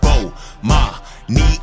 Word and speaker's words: Bomani: to the morning announcement I'mma say my name so you can pronounce it B my NE shout out to early